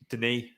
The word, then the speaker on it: Dennis: can't remember where that the pronunciation is denis not denise like i said a few weeks ago but denis like emmanuel denis why why are you